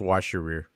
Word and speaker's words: Worcestershire: like plain yogurt, vinegar, Worcestershire sauce. Yeah, sauce. Worcestershire. Yeah, Worcestershire sauce. Yep. Not that. Sorry, it had soy sauce in it. I don't know why. It's good. It's pronounced wash your rear.